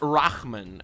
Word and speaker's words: Rahman: It's pronounced Rahman, okay?